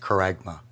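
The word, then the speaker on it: χάραγμα: the original text for the word Mark is pronounced karagma Strong's translates this to a stamp an imprinted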